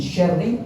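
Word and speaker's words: شَرِّ: Ingat cara bacanya min syarri gak boleh pakai sin tapi pakai syin ya.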